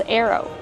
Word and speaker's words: arrow: How do we pronounce arrow? Arrow, use the sound air like hair and chair. Air, plus the long O like no and go.